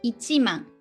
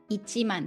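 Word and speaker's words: 一万: thousand uh which is so here we need one man so ichi ichi means one right so ichiman ichiman that's ten thousand in japanese is it confusing if not well okay we talk about money so we we go very um high up here just so you know just so you know just relax er ten thousand ichiman right and hundred thousand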